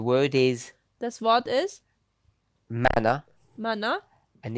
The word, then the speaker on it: manna: ist, this word for it's not mini now, it's manna, depending on how you pronounce it.